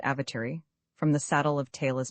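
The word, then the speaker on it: Awatere: The Blenheim coach was descending into the valley of the Avatar river pronounced avatar from the saddle of Taylor's pass.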